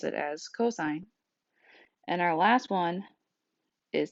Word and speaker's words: cosine: is cosine which is pronounced like the word cosine like co-worker or Co with the stop sign and it's pronounced cos